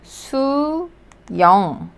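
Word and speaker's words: 수영: So first syllable is pronounced as su. And then this one, similar to ภาษาอังกฤษ yong or yong, su yong, su yong, ว่ายน้ำ su yong, swimming.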